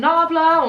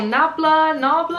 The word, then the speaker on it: Nabla: Next we have another thing from Nabla, or Nabla I think is how you pronounce it.